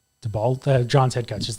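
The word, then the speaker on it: Daboll: DeBold, the Giants head coach is there. It's in the notes. How do you say it? Oh, Brian DeBold. yeah, Dabol.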